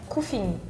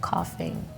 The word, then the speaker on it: coughing: say I couldn't stop cooking if they don't know that's like cough you know it's F sound so cooking they will